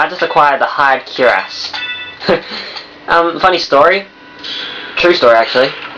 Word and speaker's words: cuirass: I used to call them Curious when I was little, and up until late this year, when I was about to acquire this game, I found out that it's actually pronounced Cuirass because it doesn't have an I or anything.